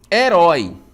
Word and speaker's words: herói: O rói é a última sílaba, som aberto, acento agudo, tá bom?